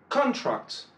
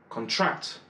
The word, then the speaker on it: contract: Si c'est un nom, un adjectif ou quoi que ce soit d'autre, l'accent va être porté sur la première syllabe.